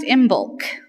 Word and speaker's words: Imbolc: of service you'll see a funny word it's pronounced imul and imul is coming up this week on February 1st